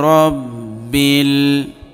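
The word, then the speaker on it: رب: আলহামদু লিল্লাহি লিল্লাহি আলহামদুলিল্লাহি রব্বিল রব জবর রব, রটা পুর হবে, বা লামজের বিল, রব্বিল আলহামদুলিল্লাহি রব্বিল আলামিন আলামিন।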